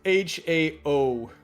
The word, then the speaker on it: Hao: h o w and it's not h a o l it's gotcha it's it's Hao but yes you you